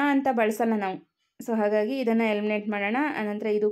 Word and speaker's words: ಸಿಂಹ: ಇದನ್ನ ಉಚ್ಚಾರ ಮಾಡಿ ನೋಡೋಣ ಸಿಂಹ ಇದನ್ನ ಉಚ್ಚಾರ ಮಾಡಬೇಕಾದರೆ ನಾವು ಬಳಸುವಂತಹ ಅನುನಾಸಿಕ ಯಾವುದು ಅಂತ ಮೊದಲು ಕಂಡುಹಿಡಿದುಕೊಳ್ಳಬೇಕು ಇದನ್ನ ನಾವು ಉಚ್ಚಾರ ಮಾಡಬೇಕಾದರೆ ಮ ಅನ್ನುವಂತಹ ಅನುನಾಸಿಕವನ್ನು ಬಳಸ್ತೀವಿ ಸೋ ಇಲ್ಲಿ ಮ ಅನ್ನೋದು